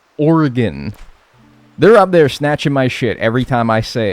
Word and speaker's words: Oregon: That's because for the longest time I always said Oregon. And everyone would snatch my whenever I said Oregon. Cuz it's Oregon. Oregon.